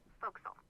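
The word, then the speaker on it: forecastle: ship but it's pronounced fokal why is that try pronouncing it like an English sailor with no formal education SP Castle fille over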